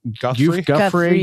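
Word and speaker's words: Giuffre: Guffrey.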